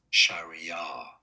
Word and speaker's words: Sharia: Sharia. Stress on that.